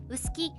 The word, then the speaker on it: 浅黄: 現在の立った色彩時点や各種カラーコード表、カラーサンプル表などではあさぎと書いて薄きとの読みが採用され